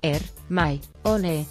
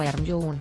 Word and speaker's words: Hermione: decir su nombre correctamente el siguió llamando la hermione er my own le dijo despacio y claro que mourinho respondió krumm estás cerca dijo hermione mientras encontró a harry observando las y riendo y es que desde el primer libro la escritora descubrió que muchos fans cometían el error de pronunciarlo como are you y la teoría la